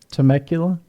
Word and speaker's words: Temecula: Temecula.